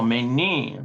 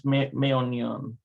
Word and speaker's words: מעוניין: Oh, menin. No, it's meonion.